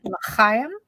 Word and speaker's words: l'chaim: If you hear someone say l'chaim, well, and you really have to hit that first. It's that kind of, there's a word for it, the way you pronounce that first, the CH. It's got that sound in it.